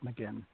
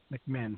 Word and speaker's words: McMinn: Um, so, um, Peter, what's your next question for Miss McInn? McMinn. I'm sorry. I keep mispronouncing your last name.